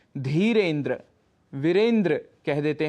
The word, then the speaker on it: धीरेन्द्र: उच्चारण कर बैठते हैं, जैसे धीरेन्द्र, जबकि शुद्ध उच्चारण है धीरेन्द्र।